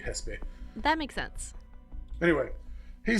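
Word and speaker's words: Xesspe: cannot correct you uh it might be hespe because it's x-e-s-s-p-e and mexico is pronounced mexico so probably hespe that makes sense anyway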